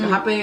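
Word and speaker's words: rapé: which hapé is actually pronounced spelled like rape. It's R-A-P-E, but it's pronounced accent mark over the E.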